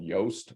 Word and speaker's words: Yoast: common plugin is called yoast y-o-a-s-t it rhymes with toast that is an SEO